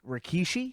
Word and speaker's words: Rikishi: Rikishi.